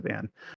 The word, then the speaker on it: Van: oh, everyone knows Vaughn, or Van, I guess they pronounce it. My brain wants to correct it to Vaughn, but they pronounce it Van.